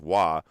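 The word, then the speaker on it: ו: in the Aramaic alphabet, the W, which is pronounced wa, is literally the sixth letter of the alphabet.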